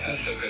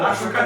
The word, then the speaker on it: Ahsoka: C'est Ahsoka Tano. 5. Ah non, Tristan, arrête. Ahsoka Tano.